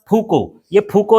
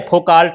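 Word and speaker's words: Foucault: ठीक है, दूसरा फूको ये है, फोकाल्ट ऐसे स्पेलिंग कहोगे तो इसका ये LT वगैरह सब जो है साइलेंट रहता है, इसको पढ़ते हैं फोको भी लिखा रहता है कहीं पास।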